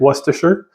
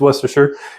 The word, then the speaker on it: Worcestershire: then for Worcestershire sauce and that's how you pronounce it Worcestershire most people don't know how to pronounce it it's Worcestershire and I put a little bit of this